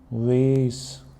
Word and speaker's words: was: अगर आप बात करें अमेरिकन की तो इसको कहते हैं वेस, वेस अमेरिकन प्रोनाउंसिएशन है और वाज जो है वो ब्रिटिश प्रोनाउंसिएशन है।